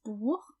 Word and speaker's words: Buch: Please note that the CH in das Buch is pronounced ch, but in the plural, die Bücher, it's pronounced ch. That's because if the CH comes after A, O, or U, so A, O, or U, it has that guttural sound ch, and after everything else, it's ch.